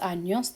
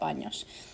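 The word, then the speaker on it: años: be any you want to be really careful to pronounce that enye sound the n a sound is uh like remember it's an n and a y nia sound tengo kator says and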